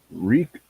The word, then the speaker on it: Rey: Who knows what Rey Mysterio's name means in Spanish? Is it Rey? Yeah, it's R-E-Y. Oh, okay, I didn't know. It's more like Re Mysterio. Yeah, you got to pronounce it in Spanish.